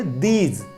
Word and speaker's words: these: Sense में बोलना है दोस्तों। तो आइए अब अगला हमारा जो डेमोन्स्ट्रेटिव प्रोनाउन है वो पढ़ते हैं। नेक्स्ट है हमारा दोस्तों दीज, THEAZ। इसको प्रोनाउंस करेंगे दीज, दीज, दिस नहीं करेंगे, दीज।